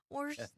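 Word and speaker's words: Worcester: is wchester worster wester Worster Worster like the sauce worst sauce.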